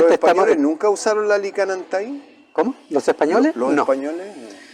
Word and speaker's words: Lickan Antai: Con CK, que es una se pronuncia Licán Antay. Licán.